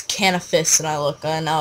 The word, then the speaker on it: Canifis: i wanted to i would study how to pronounce canifis i called it canvas until when i started making videos or something tomorrow i started making videos and some guy like he's like it's canopus and i look and now i call cannabis